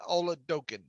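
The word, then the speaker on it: Oladokun: email there okay yeah all the dough can spell it o-l-o-l-a-d-o-k-u-n okay so let's know energy yes okay uh ole dokken uh and uh that's what that i i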